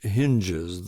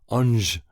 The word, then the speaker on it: Hinges: From the days of Joan d'Arc, the natives have pronounced it Ange in one syllable, with the sound of A as in ham. But Sammy naturally pronounces it hinges, as it is spelled, one hinge, two hinges on the door or window.